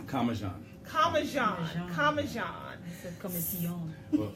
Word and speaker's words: Comissiong: Well, Comissiong. actually, interesting enough, where I'm from, in Trinidad, it is pronounced Comissiong. Okay. But where my grandparents are from, which is Grenada, it's Okay. more commonly pronounced Comissiong. Comissiong.